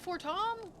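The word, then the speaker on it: Fortemps: Forttom. They call that for Tom. That's foreimps. Oh my god, they pronounce things so stupid.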